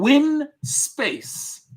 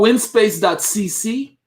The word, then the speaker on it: Winspace: It's called windspace.cc. I'm going to put the link here for the wheel that he had in his video. That's the Wind Space. It's spelled without the D, Rex. It's WINSPACE.